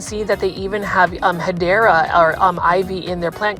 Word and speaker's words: Hedera: shop because, number one, any type of Hydra or Hedera, which is the correct way to say it, these are a little